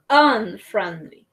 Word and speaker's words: unfriendly: Friendly, unfriendly. Unfriendly. Esta U acá en unfriendly va a sonar más o menos como una A.